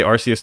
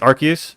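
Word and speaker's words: Arceus: I say RCS, too. Yeah, but apparently it's Archus.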